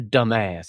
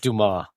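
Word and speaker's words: Dumas: shash shank again I when he says Alexander dumbass he's pronounced Duma that's hilarious so you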